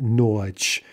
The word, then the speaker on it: ночь: There is no hard versus soft ch sound in Russian, so this is simply ночь. That soft sign is not affecting the pronunciation in any way, but again, you see